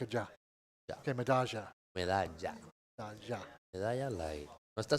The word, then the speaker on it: Medalla: Medalla. Like double L sounds like a ja. Like a ja. Okay, medalla.